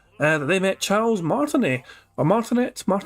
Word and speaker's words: Martinet: Super Chat says that they met Charles Martinet. Or Martinet? I don't know if the T is silent at the end or not there, but Charles Martinet. It is Martinet, the T is silent.